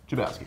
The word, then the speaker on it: Chlebowski: Ethan, how do you pronounce your last name? Chlebowski. Ethan Chlebowski is here. Today we are joined by Ethan Chlebowski. Did I say it right? You did.